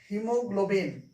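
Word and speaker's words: haemoglobin: आप याद रखिए की हमें ए उच्चरित नहीं करना है इसे हमें पढ़ना है सीजर इसको मैं पढ़ना है सीजर क्या पढ़ना है सीजर ठीक है ना सीजर पढ़ना है और इसे पढ़ना है हीमोग्लोबिन ठीक है ना तो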